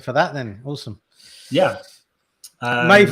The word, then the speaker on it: Maeve: Maeve rhymes. Right, I must know Maeve's put rhymes with Dave now as well.